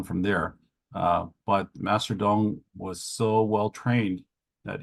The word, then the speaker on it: Tung: okay so regarding uh Master Dong's name uh this is the Wade Giles spelling of it the legal spelling of it from Taiwan uh of course if we were to spell it in pinion we would spell it dong d o n d acupuncture don't don't call it Master Tong's acupuncture or Worse Master Tong's